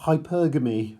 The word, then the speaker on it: hypergamy: This would be an example of hypergamy, or hypergamy, I should try and say it correctly. Hyper and then Gamy, marrying into a higher social class.